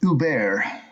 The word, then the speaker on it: Huber: And it's pronounced Uber.